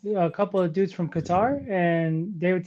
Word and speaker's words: Qatar: you really just say Qatar? That is the correct pronunciation. Don't test me. That is the correct pronunciation. It's Qatar. It's not Qatar. Just like Iran is not Iran.